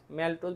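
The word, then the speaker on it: maltose: তার আইসোম আইসোম মানে মল্টোজ, ম্যালটোজ বা মল্টোজ একটা উচ্চারণ করলেই হবে।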